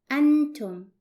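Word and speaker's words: أنتم: with you you are it is pronounced in Arabic as Anton and it's written like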